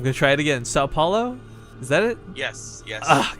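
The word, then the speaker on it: São Paulo: for the I'm going to try it again sa Paulo is that it yes yes we getting good at pronunciations today with riffkin I'm impressed all right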